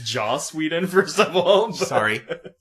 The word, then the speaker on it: Joss Whedon: Josh Whedon died for your sins. Okay. It's Joss Whedon, first of all.